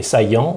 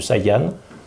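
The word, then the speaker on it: Saïan: de montagne qui s'appelle les saillants ou Saiyan selon la façon dont on prononce et c'est une région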